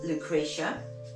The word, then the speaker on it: Lucretia: in there now this one is called um Lucretia that's how you pronounce it she's just Divine my favorite word